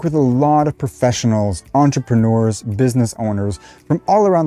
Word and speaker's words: entrepreneur: in american english and you might have heard entrepreneur which is more of a british pronunciation now the most common accepted pronunciation of this word is on just like on off tr nur entrepreneur now as a speaker of french myself i